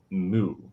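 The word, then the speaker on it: MW: so it is pronounced mu and like like the cow or like the sound the cow makes and so basically nw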